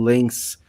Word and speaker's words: Lens: grande campanha do Lens, que eu sempre falo Lens, né? Está, acho que provavelmente está pronunciando corretamente, mas aí também eu penso sempre no Felipe Lan, né? Falar o Lã comprou, o que que o Lã tá fazendo aqui? né? Porque ele tá pronunciando de um jeito provavelmente mais correto do que eu.